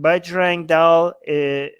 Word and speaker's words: Bajrang Dal: Bajrang Dal.